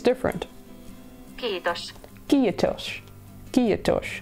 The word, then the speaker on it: Kiitos: Kiitos. Kiitos. It's like two syllables.